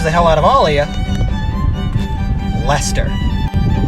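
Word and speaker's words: Leicester: hell out of alia lester massachusetts basically just said these three letters right here we're just gonna do the l and hester believe it or not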